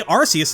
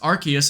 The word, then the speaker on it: Arceus: this Pokémon's name is usually pronounced Archus in official content.